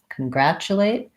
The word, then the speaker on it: congratulate: congrats to wait congratulate here's another one of our hidden CH sounds the tu says Chuck congratulate and another schwa in